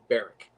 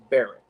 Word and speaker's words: Berwick: and people call it barrick burke berwick it's barrack that's the way you pronounce it if you're english because it's named after the bear and the wick tree barrack but that's a little that's a that's a